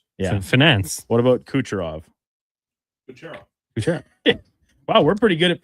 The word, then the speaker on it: Kucherov: Kucherov.